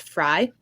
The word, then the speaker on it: Frey: So I'm just going to talk about Freyr first. So Freyr's name is sometimes angelicized as Frey, so Frey. And in some of the English continent, it actually is pronounced Fry, which is fucking weird, but okay.